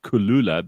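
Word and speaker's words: Kloola: into into high gear Kula but it's spelled k l o o l a and they're going to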